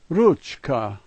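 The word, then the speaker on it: ручка: Watch out, that's not a P, it's an R. In Russian, er. The second letter is a U sound. The third letter is che. K and A are no challenge at all. Ruchka, ruchka.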